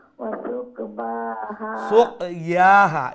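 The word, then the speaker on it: سُقْيَاهَا: রাসূলুল্লাহি নাকাতাল্লাহি ওয়া সুকবাহা সুক ইয়াহা, ইয়া বা নয়, ইয়াহা। বার মতো লাগে ওয়াসুক ইয়াহা ফাকাযাবুহু ফাআকারুহা।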